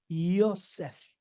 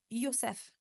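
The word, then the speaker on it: יוסף: And his name in Hebrew Et son nom en hébreu is said Yosef. se prononce Yosef.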